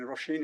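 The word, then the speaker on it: Róisín: So I've been referred to someone called Roshin, R-O-I-S-I-N, Roshin it's pronounced, I believe.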